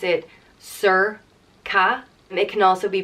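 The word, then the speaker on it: Sorcha: bright or shining and there's a few different ways you can pronounce this and it's really dependent on where in Ireland you are we have four different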